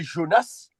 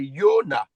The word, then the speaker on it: Yona: cette lettre là par on met Jonas mais son vrai nom c'est Yona il y a pas le S à la fin mais c'est Yona qui veut dire la colombe.